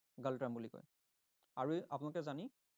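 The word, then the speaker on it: Ngultrum: হবো option B থিমপু আর currency কোন চলে গালট্রাম চলে চলে এনজি ইউ এল টি আর ইউ এম যেটা এনোপ্রাসার হয় কিন্তু উচ্চারণ গালট্রাম বলি কয় আরো আপনাকে জানি গালট্রাম আরো ইন্ডিয়ান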